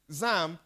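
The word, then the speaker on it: XAMPP: we will use what zamp that's the right pronunciation zamp which provides one Apache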